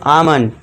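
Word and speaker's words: almond: यदि ए और यू के बाद एल हो तो एल साइलेंट होगा। ए और यू के बाद एल। ए के बाद क्या है? एल है तो इसे क्या पढ़ेंगे हम? आम यानी कि बादाम।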